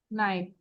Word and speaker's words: knife: knife so Knife. we don't pronounce K টা কি pronounce করি